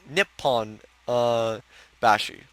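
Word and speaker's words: Nipponbashi: The one in Osaka is called Nippon Bashi. Don't they have the same kanji? Yeah, that's why you use different pronunciations to tell them apart.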